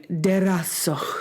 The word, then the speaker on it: DeRazzo: We have a celebrity among us today, and I've been told that I have to pronounce her name DeRazzo. Oh, I think I made it Italian.